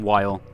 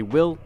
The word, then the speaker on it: Wyll: the last video and I called him while but his name is actually will that's my apologies you